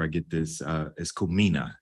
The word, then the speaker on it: Kumina: to make sure I get this uh is kumina correct yeah or kumina kumina good talk a little bit more about that